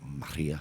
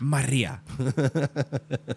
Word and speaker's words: Maria: I believe it's pronounced Hurricane Maria. Maria.